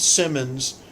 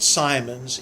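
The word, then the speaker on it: Simons: God now minnow Simmons I learned to pronounce that Simmons the videos going to pronounce that Simon's it's actually spelled several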